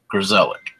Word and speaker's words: Grzelak: Grzelak.